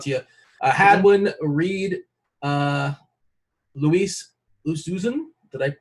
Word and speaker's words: Oosthuizen: Hadwin, Reed, Luis Oosthuizen. Did I pronounce that correctly? Yeah, Louis Oosthuizen.